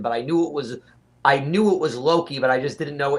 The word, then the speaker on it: Loki: But I knew it was Loki, but I just didn't know in what.